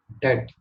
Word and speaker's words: debt: B silent होता है इसमें. डेट.